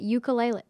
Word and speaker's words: ukulele: the board, he said, you're supposed to say it ukulele.